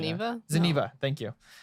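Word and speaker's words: Zeniba: Zeniva. Thank you.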